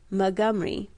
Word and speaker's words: Montgomery: lessened it was Mr Montgomery Hicks whose first name was usually pronounced mcgomery and then degenerated into